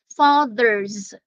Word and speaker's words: fathers: Fathers. Yeah, the TH there is hard and the S there is pronounced as Z.